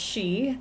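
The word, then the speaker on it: 四: The number four is pronounced she, the same as the word for death and is considered very unlucky.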